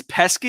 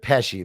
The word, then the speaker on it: Pesky: Is Pesky your middle name? Yeah. A lot of people pronounce it Pesci, but it's actually just Pesky.